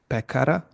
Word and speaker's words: pekar: So short climbing accent is selo, and Uh-huh. short down accent is pekar.